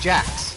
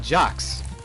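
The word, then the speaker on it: Jacques: Believe it or not, it is pronounced Jax, not Jcks. Jax. There's an A. And yes, it is a French name.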